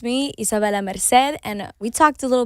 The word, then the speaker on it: Isabela Merced: Isabela Merced is here, Hey.